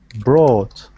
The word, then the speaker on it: brought: more time bro okay so your oh you is sounding like oh bro wrote but it should be ah brought brought that's the sound